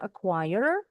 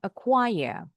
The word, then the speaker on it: acquire: You can pronounce it with the letter R. Acquire or without the are acquire.